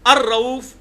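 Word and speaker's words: الرؤوف: लिए आएगा तो अरफ अलिफ लाम के साथ लाम बीच में साइलेंट हो जाता है क्योंकि र आया उसके बाद तो अर रऊफ अर रहीम तो किसी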